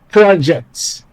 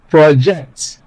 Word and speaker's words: project: get is a noun, project. But when you place stress on the second syllable, what you get or what you have is a verb, project.